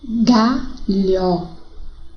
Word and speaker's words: galho: E agora escrita com a letra L seguida da letra H. Vamos ver o som? Galho, malha, velha, telha.